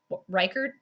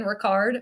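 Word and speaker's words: Reichard: And I think it took me like 5 weeks to say his name officially correct. Reichert. I was saying Ricard or Richard or something. Reichert, I guess is what it is.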